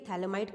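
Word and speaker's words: phthalimide: ठीक है, थैलेमाइड के अंदर PH आपका साइलेंट होता है, इट्स अ थैलइमाइड सिंथेसिस रिएक्शन।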